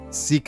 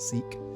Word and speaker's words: Sikh: I've reliably been informed that the religion is pronounced Sikh, not Sikh.